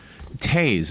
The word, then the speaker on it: Toews: This one guy, Jonathan Toews, is how you say his name. But it's spelled Toews.